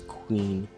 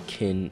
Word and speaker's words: Qing: Queen tines I'm not I keep pronouncing it as Queen I think it's Qing Dynasty pieces which is like